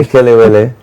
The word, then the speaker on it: kelewele: I don't want to mispronounce. I like the kelewele.